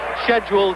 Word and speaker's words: schedule: too peaceful for this scheduled 12 rounder I apologize for that London pronunciation but that's what they taught me to say at school and Americans call it schedule but I'll try and